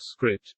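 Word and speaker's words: scrypt: or sha-256 litecoin however uses an algorithm called script which is spelled s-c-r-y-p-t what makes this a little bit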